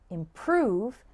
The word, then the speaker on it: improve: the first syllable and the word improve has the stress on the second syllable if you get the